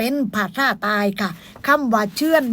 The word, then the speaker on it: เชื่อน: ค่ะ พี่ น้อง ค่ะ เชื่อน สระ เอ ช่อ ช่าง สระ อือ อ้อ อ่าง แล้ว ก็ น หนู ค่ะ อ่าน ว่า เชื่อน พี่ น้อง ค่ะ เห็น